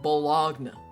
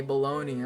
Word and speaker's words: bologna: bought it myself I also didn't know balone is pronounced balone I used to think it was pronounced bologna right and it wasn't until I heard like my friend say baloney I was like so